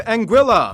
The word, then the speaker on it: Anguilla: havens first we have anguilla yeah that's how you pronounce it named after the spanish word for eel because the islands are